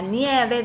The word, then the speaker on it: nieve: Nieve, nueve, nuevo. Nieve. The I in Spanish sounds I, like sí. So, nieve. ¿Puedes adivinar quién es Blancanieves?